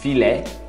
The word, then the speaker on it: filet: Peito de frango, filet de poulet, filet, não pronuncia o T, de, poulet, poulet ou poulet.